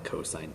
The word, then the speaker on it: cos: you don't call it cos you don't call it tan you still pronounce it the full word sine cosine tangent that is the same